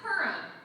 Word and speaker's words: Purim: Purim? It's pronounced Purim.